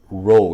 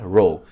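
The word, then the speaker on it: ρ: now this symbol here this Greek symbol is pronounced row yeah row I'm not going to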